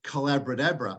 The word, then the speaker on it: Collabradabra: I developed workshops in this, and I called it Collabradabra. It rhymes with abracadabra, the magic of a collaborative conversation.